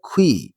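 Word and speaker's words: queue: Next line woman একজন নারী ওয়াস standing দাঁড়িয়ে ছিলেন এট দা খুই। এই শব্দের উচ্চারণ খেয়াল করো। কিউ ইউ ইউই। উচ্চারণ হচ্ছে খুই।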